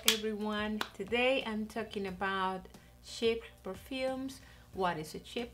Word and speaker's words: Chypre: And the topic of today is Chypre. Thank you Dana from A Nose for helping me to pronounce it better, because it's a very difficult